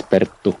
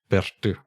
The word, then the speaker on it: Perttu: It's Perttu. Might be a bit difficult to say in Finnish language. It's quite difficult. Let me try. Perttu. Perttu. That's good. That's good. Perttu. Okay. Thank you, Perttu.